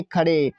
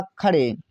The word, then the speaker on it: खड़े: यहाँ पर है KHADE पढ़ेंगे खड़े, तो KH से ख होता है, अब ए साइलेंट रहेगा, डी का मतलब ओड़ा से है, अब ई का मतलब ए की मात्रा हुआ खड़े।